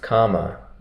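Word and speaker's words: kamma: for you about um Karma and rebirth or in poly it's pronounced comma and rebirth as the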